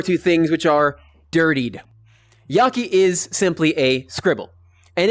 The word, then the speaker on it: jaki: Next, we have Yaki. And I tend to draw it with a random scribble. Yaki is a fun one, and that's spelled J-A-K-I.